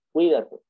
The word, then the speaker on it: Cuídate: Cuídate. Cui es una sola sílaba, da es la segunda sílaba y te es la tercera sílaba.